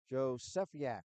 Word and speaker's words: Josephiak: And I got the pronunciation from the coach before the game. Josephiak. Josephiak.